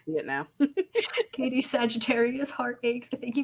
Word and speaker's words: Sagittarius: everything and i'm assuming she was trying to say sagittarius like oh we're in sagittarius season now but she said sagaritis sagaritis so giving it a hard g that but like she